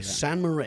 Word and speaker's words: St. Moritz: San Moritz, is that how you say it? Yeah. Okay, San Moritz.